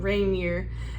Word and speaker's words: Rainier: Mount Rainier.